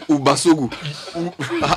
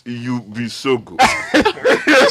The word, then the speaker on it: Ubisogu: So you founded Ubasogu. No, help me pronounce that thing. It's Ubisogu. It's even worse.